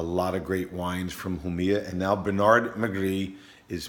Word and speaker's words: Jumilla: east in Spain called Jamila who Mia now Oh Mia who like you know the J is pronounced in Spanish who Mia and they're famous for